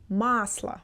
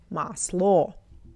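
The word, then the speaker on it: масло: When it's not stressed we pronounce as a. That's why I say masla. Masla not maslo.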